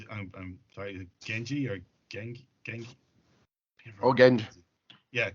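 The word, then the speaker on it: Genge: Oh, Genji. Yeah, Genji. Yeah, sorry. I don't remember how to pronounce his name.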